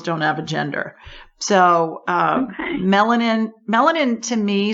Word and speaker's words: Mellenin: But what I'm getting is the name I got sounds like melanin, MELLENIN.